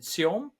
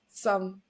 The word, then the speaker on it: Seom: is called how do you pronounce it? Seom, Seom. Some.